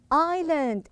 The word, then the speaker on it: island: lamb form it's an island it's an island make sure you don't pronounce the s because it's silent so i have island